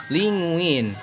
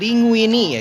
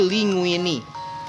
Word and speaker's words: linguine: Eh, soal pengucapannya, mungkin bisa disebut linguini, teman-teman. Bukan linguin tapi linguini karena menggunakan aksen Italia, teman-teman.